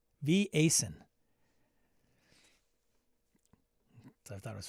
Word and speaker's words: Vaesen: Somebody corrected me on Blue Sky about how to say Vaesen. Swedish. Harrigan. He's like, I find it hilarious when I hear English speakers pronounce. I think he says it's Vaesen.